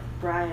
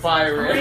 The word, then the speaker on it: Byron: Well, we haven't been saying it correctly, but now. It's Byron.